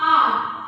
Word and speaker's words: hour: फॉर the purpose of आर, HOUR। आवर नहीं बोलोगे, आर बोलोगे, प्रोनाउंसिएशन भी अच्छी होनी चाहिए।